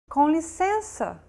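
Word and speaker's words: com licença: someone in the streets conicenza if you recall we talked about nasal vowels in lesson two too like this one and to pronounce it you need to lower your soft palate and the back of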